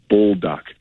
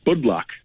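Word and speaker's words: Budlak: the bulldog spice doc i keep saying it wrong bull duck spicy chicken i saw that it was amazing is that what uh no i i said it wrong again bud block one of these days i'll get it right b u d l a k blood block chicken it's awesome it's chicken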